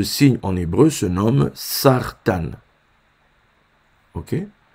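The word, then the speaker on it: סרטן: se nomme ce signe en hébreu se nomme sartan ok sartan sartan ça s'écrit Sam mère rche tête noun ok sa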